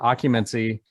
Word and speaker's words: Occumancy: cool heavy metal maniacs right now from uh occupancy did i pronounce that correctly you did excellent i am